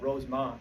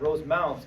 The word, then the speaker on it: Rosemount: And I always mispronounced it because I would call it Rosemont, because that's where I was from here in Illinois. And Rosemount, Minnesota.